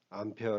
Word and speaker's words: 암페어: 단위는 암 해야 합니다 이걸 a 라고 읽으면 안되고 꼭 단위는 암페어 라고 읽으시면 됩니다 그러면 1 암페어 는